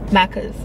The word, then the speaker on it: Macca's: Like, we have Macca's runs, which means like after clubbing or after like a party. What do you call it? Max? Macca's.